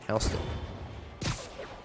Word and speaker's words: Houston Street: over in NoHo yeah for some reason uh Houston Street is uh spelled the same as Houston but it's pronounced Houston so you've got north of Houston Street I think this might not be your car